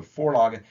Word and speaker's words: Vorlage: That's a German word, and the V sound in German is an F, pronounced as an F. So Vorlage.